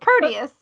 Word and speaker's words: Proteus: But the reason I want to bring up, and I don't know what my pronunciation I'm having, Proteus. Thank you. Proteus.